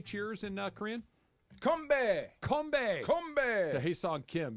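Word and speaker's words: 건배: Combe.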